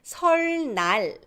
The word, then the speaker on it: 설날: If 리을 comes first and then 니은 follows, still it's pronounced as 르. So Lunar New Year's, Chinese New Year's, 설날.